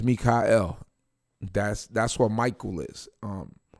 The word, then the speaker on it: Michael: have to change it you just pronounce it different Oh Michael no my name is Mika l that's that's what Michael